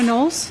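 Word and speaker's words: Knowles: My name is Nolles. My last name is spelled K N O W L E S.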